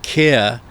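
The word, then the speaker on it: CAIR: and C A I R Cir which is the pronunciation but it's it's also one of those oxymorons because they it's pronounced care they pronounce it care but it's it's also in inversion.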